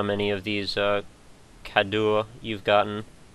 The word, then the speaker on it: cadeau: There's an inventory also, and you can see how many of these cadeaux you've gotten. How do you say that? Kado. It's Cadeau. a gift. Okay. It's a Kado. It's like saying K-A-D-O.